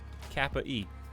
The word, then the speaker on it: Capy: it cappy or capey i say cappy but i don't know how you're supposed to say it the cappy games game i forget what it's called let's see apple arcade you pretty you pronounce it you pronounce it c-a-p-y as it's spelled of course kappa e yeah apple arcade is a